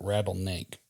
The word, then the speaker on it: rattlesnake: And I'm I'm pretty sure that he drops the the S out of rattlesnake and just pronounces it rattlesnake.